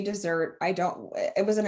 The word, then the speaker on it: Desert: on mount desert island it's spelled desert we've confirmed they say dessert i don't it was